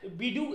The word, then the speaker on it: BeiDou: ठीक है, चाइना का आप देखिएगा बाइडू करके है, चाइना का बीडू या बाइडू जो भी मर्जी आपका बोल दीजिए, उसका स्पेलिंग है BEIDOU, बाइडू।